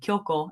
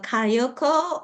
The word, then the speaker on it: Kyoko: Yeah, most of them can't say Kyoko. They Mhm. say Kyoko or Kayoko or Kyoki.